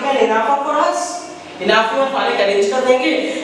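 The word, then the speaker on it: Innaphi: Pronounce it properly with me. Phanek, P-H-A-N-E-K. Phanek and Inafi.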